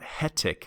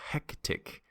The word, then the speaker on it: hectic: words like hectic and it's not hectic we need to hear that c in the middle hectic so just review that